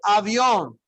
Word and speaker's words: avión: El avión. El avión. El avión. El avión. Yes, you hear that. Avión. El avión. Somebody pronounced it as if it was French, right?